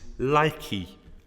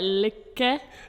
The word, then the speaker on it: lykke: So he looked at the Danish word for happiness, which is likey. I've pronounced that completely wrong, I think. Let me try on Google Translate. Lykke. It sounds more like lykke.